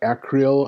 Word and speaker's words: acreil: with him it's like we don't necessarily have a pronunciation it's I would call it a Creole I guess it's a CRE il it has a number